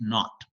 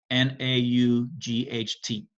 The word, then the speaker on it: naught: something in there but essentially the way we pronounce it is uh delta h naught n a u g h t n a u g h t that's the